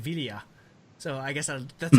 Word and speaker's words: Villa: Some people say Villa, but it's supposed to be pronounced David Villa.